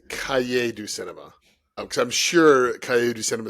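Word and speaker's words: Cahiers du Cinéma: uh magazine Tom I'll correct you on it's Cay do Cinema because I'm sure coyote Cinema is gonna come up numerous times in this list well I mean it has before and I've always heard it kahir but okay I don't pronounce French just like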